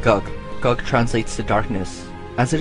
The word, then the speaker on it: Gog: in the Sumerian language it has a word similar to GOG but it's pronounced GUG GUG translates the darkness as